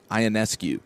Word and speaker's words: Ionescu: Sabrina Ionescu. Yeah. Oh, Oregon baller. zone. Yeah. Yeah, absolute superstar. She at one point in the fourth quarter You is said it right. Ionescu, you nailed it.